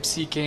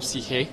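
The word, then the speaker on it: ψυχή: Eh algunos dirán que psique en griego o psije, la pronunciación correcta, se traducía por alma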